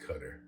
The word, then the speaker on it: Qatar: But anyway, the country is spelled Qatar, and it's pronounced Qatar, because that's how the people that live there pronounce it, by the way.